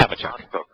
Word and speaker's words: Habakkuk: And my on-topic question is, when you we're pronouncing the name of Chabauk, you're saying Chabauk, which most people, especially Christians, are used to saying Habakkuk.